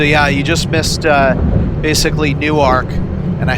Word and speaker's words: Newark: you just missed basically new arc and I said that right it's new arc Delaware the difference between Newark Delaware and Newark New Jersey is how you pronounce it so if I say